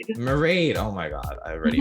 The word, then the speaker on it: Mairead: Married, right? Mairead. Mairead.